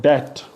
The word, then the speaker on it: debt: Like B is silent in the spelling and final position MB and BT, like debt. So DEBT, debt. B is silent.